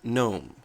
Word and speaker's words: GNOME: who call it gnome it is pronounced gnome and I reference that to The Gnome project itself if you go